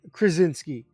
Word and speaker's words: Krasinski: trajinsky how am i gonna say this chris krasinski that's how you say it i have to